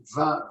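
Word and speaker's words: vingt: You know, 2020 in French is, you say it, you pronounce it vin, vin, which means wine, wine.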